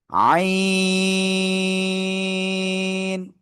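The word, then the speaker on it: عين: এই গলার মধ্যখান থেকেও এই অক্ষরটা উচ্চারণ হবে, চার আলিফ টানিয়া উচ্চারণ করতে হবে এটা। আইন, আইন, ঠিক আছে।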